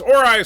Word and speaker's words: Ori: Ori is pronounced Ori, sorry.